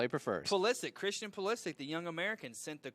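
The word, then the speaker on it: Pulisic: go ahead and say his name I Christian poic yeah I have trouble saying his last name but you say it like that that's how that's how he prefers ptic Christian polistic the young American sent the cross a cross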